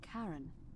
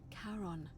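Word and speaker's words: Charon: is a little off the name you heard wasn't karen it was c h a r o n as in caron the ferryman of the dead oh who in it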